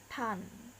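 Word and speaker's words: ターン: Nah, jika di dalam pelafalan Jepang, turn ini dijepangkan akan menjadi tan, akan menjadi tan, sehingga tulisannya seperti ini. Jika ditulis dalam katakana, ta, kemudian UR ini akan menjadi vokal panjang ta, kemudian baru ditambah dengan N, tan, seperti itu.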